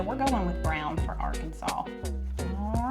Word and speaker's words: Arkansas: All right, while I pick out the color to color Arkan- Look, I almost got arrested cuz I almost said it wrong. Arkansas.